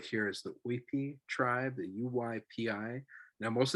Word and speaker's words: Uypi: Well, I say to them, you pronounce it as if you're reading a Spanish word, because it's written by Spanish hands, right?